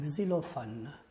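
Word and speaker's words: xylophone: سون، كيتسمى على ان كزيلوفون. هاد اكس كتنطق كزي، ان كزيلوفون.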